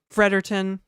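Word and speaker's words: Fredericton: Except New Brunswickers don't pronounce a lot of vowels instead of Frederickton, which is the capital of New Brunswick. It's just Frederton.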